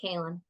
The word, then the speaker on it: Cailin: How many times do you think I've been called Caitlin instead of Cailin?